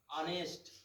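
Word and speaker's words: honest: उसके बाद है इज, ऑनेस्ट, ईमानदार की क्या लगाते हैं, ऑनेस्ट, एच नहीं पढ़ते हैं, साइलेंट रहता है, ठीक है, ऐसे रजनीश इज ऑनेस्ट बॉय।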